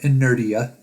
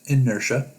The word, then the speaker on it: inertia: then there's a section called inertia it's not pronounced inerdia it's pronounced inertia you're going to underline or highlight one part